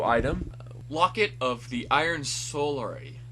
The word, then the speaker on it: Solari: Locket of the Iron Solari. Solara Salary. You pronounced it wrong.